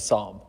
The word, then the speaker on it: Psalm: about the book of Psalm. Yeah. Psalm? Okay, so I guess that means the first thing we get wrong about the book is how we might even pronounce it. The P is silent.